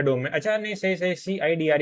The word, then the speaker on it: CIDR: okay okay ठीक है नहीं सी आईडीआर ही बोलेंगे इसको मैं भी मैं ही अब तक गलत प्रोनाउंस कर रहा था इसे ठीक है